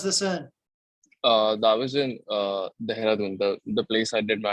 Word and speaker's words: Dehradun: How do you say that? Dehradun.